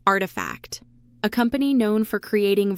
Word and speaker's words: RTFKT: But perhaps the most interesting acquisition was also in 2021 when Nike bought RTFKT, pronounced Artifact, a company known for creating virtual products and experiences using augmented reality, blockchain authentication, NFTs, and game engines.